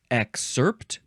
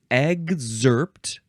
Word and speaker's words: excerpt: excerpt uh let's see you can say excerpt exerpt with a G and a z sound exerpt exerpt or EG zert emphasize either syllable it is